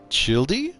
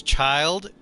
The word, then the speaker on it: Childe: Chide is pronounced as child.